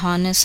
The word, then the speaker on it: honest: However, the letter H is silent in a few words that begin with a vowel sound and is used before these words. Listen to the following examples: an honor, a honest answer, an honorable discharge.